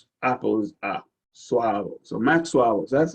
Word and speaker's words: Suavo: This is Suavo. English A sometimes A and then sometimes it's so it mixes it up. But this one is like apple. Apple is Suavo.